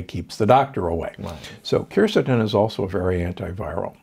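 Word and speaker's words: quercetin: a big fan of kercetin sometimes pronounced curcitin it's a compound that's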